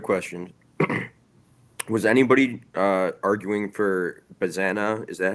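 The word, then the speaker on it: Bazzana: Was anybody arguing for Bazana? Is that how you pronounce it? Yeah, Travis Bazana.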